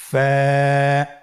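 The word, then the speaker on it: ف: wow Hamza ইয়া হরফটি আপনারা স্ক্রিনে দেখতে পাচ্ছেন ফা হরফটি উচ্চারণের ক্ষেত্রে বারিক হবে এবং এক আলিফ টেনে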